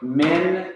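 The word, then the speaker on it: מִן: Min becomes a closed syllable, because here you have a consonant followed by a vowel and followed by a consonant, and you put a silent, simple shawal underneath the noon. So you say min.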